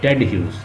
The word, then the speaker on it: Ted Hughes: कहीं पे लिखा होगा ह्यूज लिखा होगा और कहीं पे टेड, बल इसकी प्रोनाउंसिएशन जो है यही है, टेड ह्यूज।